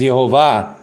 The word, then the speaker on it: Yehovah: concerence he wrote that the pronunciation or The Fanatic spelling is yehovah yehovah with the V oh it's really interesting because uh even the letter V or V has the sound of V we know that for